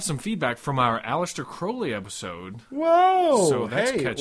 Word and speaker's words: Crowley: two that AC alist Crowley's name is pronounced Crowley all right I'm going